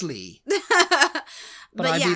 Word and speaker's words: Leigh: i g h that's how you're going to pronounce it Lee right yeah how would you pronounce it it's